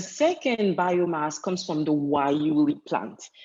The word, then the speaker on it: guayule: The second biomass comes from the Wayuli plant. Yes, it's spelled with a G, but it's pronounced Wayuli.